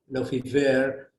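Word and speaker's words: Lefevere: moving to uh hello favre or how they pronounce it in french lofi ver um in 1991 uh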